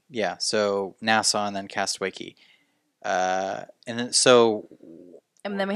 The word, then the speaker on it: Castaway Cay: Castaway Key. Key. They call it Key. I know even it's though Key, but it's spelled C-A-Y. C-A-Y, which is K.